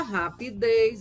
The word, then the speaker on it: rapidez: Já rapidez, a sílaba tônica é a última sílaba, é uma oxítona.